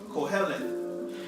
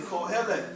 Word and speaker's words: Kohelet: The meaning, the Hebrew name for it is Kohelet. Kohelet. You spell that like this. Q-O-H-E-L-E-T-H. It means preacher. Preacher. Strong's 6953. Say that one more time. Strong's 6953. Kohelet. Everybody say Kohelet.